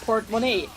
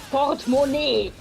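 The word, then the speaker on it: Portemonnaie: german word for purse now but we still pronounce it port monet and not like part money i guess some people do that well you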